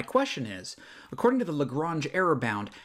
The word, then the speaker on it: Lagrange: And then if this polynomial is used to approximate cosine of 0.2, what is the Lagrange error? I keep saying Lagrange. It's pronounced Lagrange, but My middle name is Lagrange, and so I keep seeing this Lagrange.